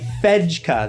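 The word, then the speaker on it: Fejka: got to be right there this is a fedka that's how you pronounce it it is a veg cup from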